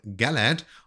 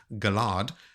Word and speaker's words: Galad: here, and first up is a POV from Galad, or as most people seem to pronounce it, Galad.